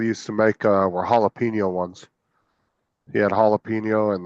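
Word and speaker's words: jalapeño: of silent letters and the J is pronounced as a h in it at the beginning uhhuh haino jalapeno maybe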